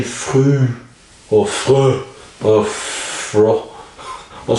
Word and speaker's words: Früh: or something like that, you'd say free, the word free, but you do it as guttural as possible. So in other words, you say früh, früh, früh, früh.